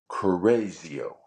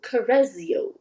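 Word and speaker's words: Correggio: g g i o two G's put together make the z sound Kio oh Cario yeah um Leonardo began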